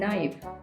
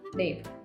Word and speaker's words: naïve: other examples Noël and naïve. if we didn't have this tréma in these words we would have pronounced it as noel and naive.